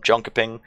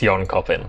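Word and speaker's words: Jönköping: Dream Hack Summer in Jonaping. I hope I'm pronouncing that correctly. Yeah, it's Yon Copen.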